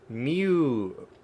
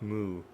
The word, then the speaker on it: mu: it's going to be Mew Mew that's how you pronounce the uh Greek letter me not moo makes sense makes sense